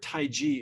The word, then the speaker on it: taiji: the way the word taiji is actually pronounced not Tai Chi it's Tai ji more like j-i which means the great